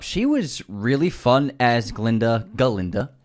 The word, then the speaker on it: Galinda: She was really fun as Galinda. The gut is silent.